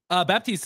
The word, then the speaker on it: Baptista: So is it pronounced Baptista? Baptiste is good. Yeah, you Okay. could, when my family came here from Portugal, they added a P to it. Otherwise, it would be just Batista.